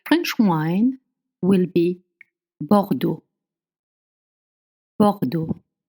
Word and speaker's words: Bordeaux: Bordo is spelled B O R D A U X. So let's think about it. Bordo. When you have O in front of R, you make O. You open your mouth very wide. O. bar and then when you see e au that's o so in bord you have two different o sound one is high pitch